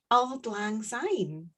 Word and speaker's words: Auld Lang Syne: It's called Auld Lang Syne.